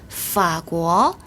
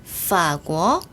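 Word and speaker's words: 法国: 그러니까 앞에 있는 삼성을 몇 성으로 그렇죠? 반삼성으로 발음을 합니다.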